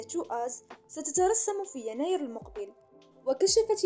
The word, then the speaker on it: TWS: في 22 ديسمبر أعلنت وكالة بليديز للترفيه رسميا أن TWS تنطق مثل كلمة الإنجليزية to us ستترسم في يناير المقبل.